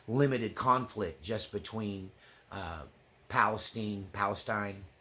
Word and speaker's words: Palestine: conflict just between uh Palestine Palestine in Texas we call them Palestine not Palestine CU there's a Palestine Texas spelled the same so forgive me if